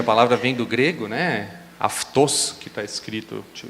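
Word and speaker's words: αὐτός: Esse ele, em grego, se falaria aftos. Pode significar algumas outras coisas, né? Esse microfone, né, aftos, micrófonos, poderia ser também.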